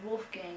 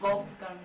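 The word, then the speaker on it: Wolfgang: who's vul wulfgang wulang it's pronounced Wolf Gang in English but it's vulf gang in he had that brand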